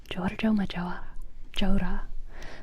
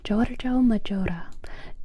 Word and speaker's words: Giorgio Maggiore: Giorgio Maggiore? Giorgio Maggiore. Giorgio Maggiore.